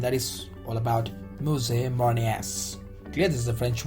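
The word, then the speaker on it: marinières: The pronunciation of this is mousse marinieres.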